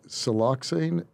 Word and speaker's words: siloxane: you talk about here uh i think it's siloxane is am i pronouncing that right siel yep no you're pronouncing